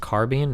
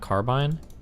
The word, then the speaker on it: carbine: It's pronounced carbine, not carbine.